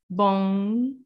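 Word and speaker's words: bom: to need this and you don't want to be saying boom boom although it's fine we will understand um but yeah if you want to sound more accurate then you'll try bong okay uh go ahead and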